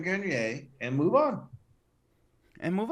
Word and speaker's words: Grenier: name is for you hi my name is adrian grenier i'm an actor just admit you were wrong call him adrian garnier and move on and